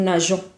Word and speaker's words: nageons: On va mettre un E devant ONS parce que sinon le verbe se prononcera mongon. Vous savez bien que G suivi de O se prononce go. Alors il faut ajouter E pour obtenir le son je. Nous nageons.